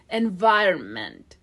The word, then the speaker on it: environment: The second one, vai, and vai, okay? Vai, I as in mine. Now we have the American R, schwa and en, environ. And the last syllable, meant. Here again, schwa, and we stop that T, okay? I mean, don't release the T.